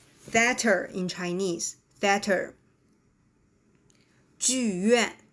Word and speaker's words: 剧院: 剧院, right? 剧院, Beijing Opera, 京剧, right?